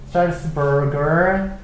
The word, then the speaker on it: Salzburg: Of the traditional Salzburger Festival 이게 발음이 영어적인 발음은 Salzburg고요. 살츠부르크라고 하죠, 그렇죠?